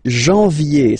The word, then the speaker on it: janvier: But anyway, janvier, so that's the way to pronounce it. Janvier, A-N, en, okay, and then ye, janvier. Then comes février, février.